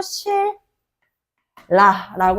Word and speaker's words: 신라: 연다라 발음될 수가 없어 대표적으로 우리 천년의 역사를 가지고 있는 나라 신라 근데 발음할 때라 나는이 울에 크리스마스에 신라 여행 갔다 왔거든 근데 신라 여행을 갔다 올 거야라고 이야기하면 너무 힘들잖아요 그죠 그래서 이렇게 뒤에 있는 리을이 앞에 오는 종성 자리에 니은 리을 발음으로 만든다라고 해가지고 실 라라고 합니다 하지만이 유마 같은 경우에는요